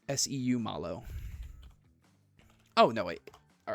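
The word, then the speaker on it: Seumalo: Is it How How do you pronounce that? It's Seu Malo.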